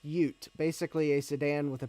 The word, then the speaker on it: Ute: okay oh uh gut bomb says Ute is pronounced Ute basically a sedan with a pickup truck bed